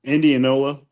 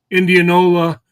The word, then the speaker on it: Indianola: How do you pronounce it? In in Indiana. Indianola. Indianola.